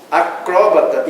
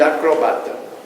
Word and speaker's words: acrobata: Acróbata e acrobata. Como muitas outras de nossa língua, admite as duas pronúncias. Tanto faz, acróbata como acrobata.